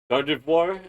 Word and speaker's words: Gardevoir: I'm kind of a fan of uh Giv Gardevoir. That's how you pronounce your name. I I don't know why I keep pronouncing it differently sometimes. Gardivoir is one of my favorites because of the uh of just psychic abilities.